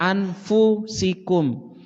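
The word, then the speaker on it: أَنْفُسِكُمْ: Ini jumhur bacanya, mayoritas ulama bacanya anfusikum. Fa-nya dhammah, anfusikum.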